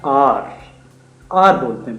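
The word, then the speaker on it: hour: तो उनके लिए बेसिकली हम हार बोलते हैं हावर बोलते हैं बच्चे उसको मिस प्रोनाउंस कर जाते हैं ए यू आर होता है आर आर बोलते हैं बेसिकली तो अ जो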